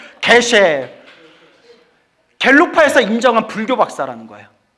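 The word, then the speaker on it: 게셰: 요새는 법이 바뀌었는지 모르겠는데 그걸 통과하신 분에게 불교 박사라는 칭호로 계쉐라고 이름을 줬는데. 뭐라고요? 계. 발음이 개셰.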